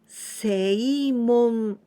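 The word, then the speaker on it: 正門: And here, we pronounce sei, seimon, seimon. It means the right gate.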